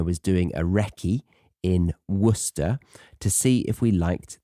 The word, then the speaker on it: Worcester: a visit I made to a town called Worcester in a county called Worcester share um didn't